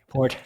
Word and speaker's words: Forte: With an E. Forte. Fort. You gotta accentuate the E.